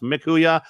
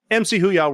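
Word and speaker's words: mchya: y a that's a different story but it's pronounced MK huya MC huya works too but I'm there on social media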